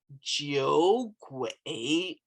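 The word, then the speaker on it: 酒鬼: until I tell you, it's pronounced Jiogui, Jiogui, Jiogui, Jiogui. The word on the left is pronounced Jiu, and the word on the right is pronounced Gui. And when you put them together, you get Jiogui, Jiogui.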